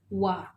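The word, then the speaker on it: は: The letter ha in hiragana chart is usually read as ha when it is part of a word, but when it is used as a particle, as in this pattern, it is pronounced as wa.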